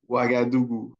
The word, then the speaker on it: Ouagadougou: Yes, Mohamed, we're talking about public health cooperative, modernizing the cleaning of the city of, can you pronounce the city, please? Ouagadougou.